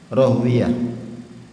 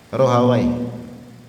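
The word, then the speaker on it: Rahawaih: Ishaq bbrim bin rohuwiyah rohuwiyah ini kalau ahli hadis bacanya rohwiyah kalau alli Lughah Bacanya apa gimana Lughah bahasanya roh Hawai ya kita ikikuti ahli hadis at lghah Ishak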